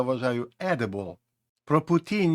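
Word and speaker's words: poutine: Зверніть увагу на вимову путін. Ніякі інші вимоги тут, які вас би напрошувалися зараз, тут вони не підходять.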